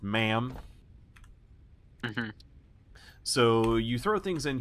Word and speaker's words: MAM: has the zunis this is the man it's pronounced ma'am so you throw things in here it destroys